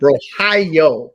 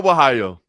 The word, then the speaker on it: Borralho: I said a new contender could be born in the main event if okay, help me pronounce his name again. Borralho. Yeah, there you go. Well done, Caio Borralho.